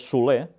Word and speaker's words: Soler: Por su parte, y ahora lo diré como se pronuncia este nombre en catalán, es Soler, porque es un apellido catalán, aunque yo voy a decir Soler, porque seguramente quizás ellos